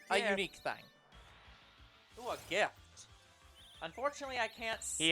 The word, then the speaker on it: GIF: Ooh, a gift. Unfortunately, I can't see. He has a gift for us. GIF. No, fuck off. It's pronounced gift.